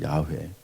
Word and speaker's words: 야훼: 조금 이제 원문 발음에 가까이 하면 야훼라고 할 수 있습니다. 야훼.